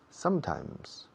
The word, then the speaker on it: sometimes: Tenéis que forzar la cerradura de la boca, el cierre de la boca, con la M. Sometimes.